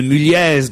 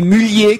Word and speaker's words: Mulliez: Vous avez affronté Jérôme Bonaldi dans une querelle concernant les Mulliez, car on ne prononce pas le Z de Mulliez dans la famille, vous savez, la famille Auchan.